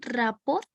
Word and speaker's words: rapport: tú dijiste que que es el rapot así se pronuncia está bien está bien dicho como tú lo estás comentando me quedó la dudita en cuanto no sabes que es el rapport Exacto nunca había escuchado